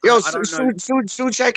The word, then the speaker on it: Souček: Like I feel like I need to call him Souček because that's how you say his name.